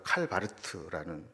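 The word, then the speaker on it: Karl Barth: 있었었죠 이게 자유주의 신학이었다 칼 바르트라는 사람 그쪽 발음을 칼바르트 이렇게 얘기하는데이 사람에게 가장 중요한 신학적인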